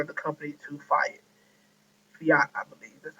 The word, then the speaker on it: Fiat: um that part of the company to fi Fiat I believe that's how you say it's car